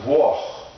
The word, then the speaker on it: Włoch: Okay, in Polish, Italian, Italy is Włoch, and Włoch, W-O-J-E, and it's pronounced Włoch.